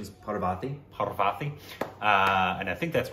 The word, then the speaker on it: Parvathy: I believe the pronunciation is Parvathy.